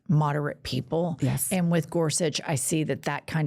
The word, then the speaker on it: Gorsuch: got goret gorset how do you say it Gorsuch Gorsuch who you know he's got all these funny